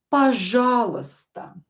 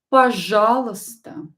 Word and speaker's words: пожалуйста: Please in Russian is пожалуйста. Пожалуйста. Пожалуйста. You will not pronounce these two letters. It will sound like пожалуйста.